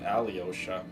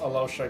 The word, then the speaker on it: Alosha: Oh, I was calling him Aliosha. Okay, his name is pronounced Alosha, guys.